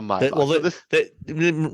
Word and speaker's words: Maybach: Yeah, Maybach exactly. mode. So, why is it why is it Maybach and not Maybach? That's the German pronunciation of it.